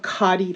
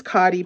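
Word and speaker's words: Khadi: good results from this cotti paper I think I I didn't remember how good I had it with this cotty paper so it's spelled KH a DI I will put a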